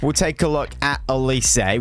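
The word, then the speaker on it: Eze: take a look at elysee which is how you say his name because you guys let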